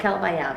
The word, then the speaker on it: Cabaya: a land called cabaya everybody asked me how to pronounce that it's called cabaya and in cabaya the only